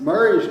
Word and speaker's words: Murray: Murray's name wasn't spelled, I'm not mispronouncing it, it was spelled M-U-R-R-A-Y. Yeah, Yeah. So, but if it was M-A-R-Y, I'd still say Murray, because that's the way we grew up here in Yeah, Brasstown. My Murray. sister's name's Murray, but it's spelled with an A. M-A-R-Y.